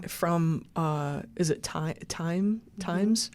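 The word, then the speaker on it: Thymes: From uh is it time times?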